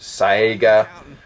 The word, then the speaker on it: Saiga: and by the way I say Sega I know it could be pronounced SAA however you want to you know vary the pronunciation I just americanize it so Sega that's what it's going to be